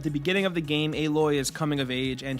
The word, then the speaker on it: Aloy: Horizon you play as aloy and yes that is how you pronounce her name not alloy anyway you play as aloy a member of the